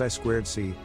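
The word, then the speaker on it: I²C: means inter integrated circuit it's pronounced i squared c and it is a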